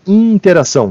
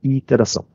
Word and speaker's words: iteração: pronunciá-la com calma, porque é muito comum as pessoas dizerem interação, como se tivesse um N aqui no meio do caminho. Mas iterar quer dizer repetir. Interação é a relação de uma pessoa com outra. A gente está falando de repetições, então tomem cuidado, sempre escrevam dessa forma iteração, sem o N, e pronunciem iteração.